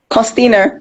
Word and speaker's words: Kostiner: Please welcome to the show, Kostiner. Did I pronounce it correctly? Kostiner. It's okay. I don't mind being Kostiner. Okay, what's the correct pronunciation? Kostiner.